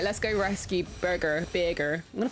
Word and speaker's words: Birgir: Birgir is how you pronounce his name.